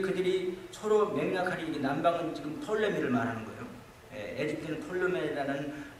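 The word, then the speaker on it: Ptolemy: 원래는 프톨레미라고 써 있어요. P자 써서 P-T L-O-M-Y 뭐 이렇게 톨레미라고 써 있거든요. 그러나 P를 갖다 발음을 안 해요.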